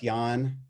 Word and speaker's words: Jahn: And if you hit LinkedIn, just Jahn, just like you're tired, but it's spelled Jahn is my name.